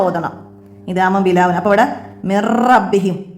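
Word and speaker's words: مِن رَّبِّهِمْ: അപ്പോൾ ഇവിടെ മിർ റബ്ബിഹിം, നൂനിനെ ഇവിടെ നമ്മൾ ഉച്ചരിക്കേ ചെയ്യരുത്, ഉച്ചാരണത്തിലൂടെ കാണരുത്. മിൻ റബ്ബിഹി എന്ന് ഓതരുത്, വെളിവാക്കരുത്.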